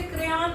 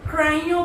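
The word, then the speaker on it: crayon: ऐसे ही हमने एक और वर्ड दिया इंग्लिश में हम इसे क्रेयॉन पढ़ेंगे, बट फ्रेंच में हम इसे क्राइयो पढ़ेंगे।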